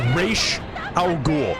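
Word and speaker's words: Ra's al Ghul: you know I wouldn't say his name is race our goal not rats race they make a point of the actual pronunciation of this name throughout every show in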